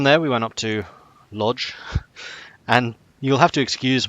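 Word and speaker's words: Łódź: We spoke to several Polish people, and each of them pronounced Lodz differently. Like that L is actually more like a W, but some people pronounced it like an R.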